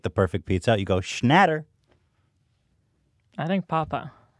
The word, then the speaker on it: Schnatter: perfect pizza you go Schnatter I think Papa it's better mmm doesn't roll off the tongue the same Papa I like Nadder it's like Kobe two syllables both have two syllables don't leave what I